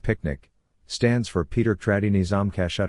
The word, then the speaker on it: PQNK: PQNK picnic the regenerative solution. PQNK stands for Peter Trini Zamashakiari meaning regenerative and sustainable pristine organic farming system pronounced as picnic.